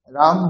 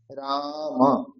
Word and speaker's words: রাম: সেইজন্য রাব রাম শব্দে আকার আছে প্রথমে। তাহলে আ এর জায়গাতে দীর্ঘ উচ্চারণ করতে হবে। রাম ম এর শেষে অকার আছে। সেইজন্য অকারের উচ্চারণ রাখতে হবে। সেখানে হসন্ত বা হলন্ত উচ্চারণ করলে হবে না। রাম বললে হবে না।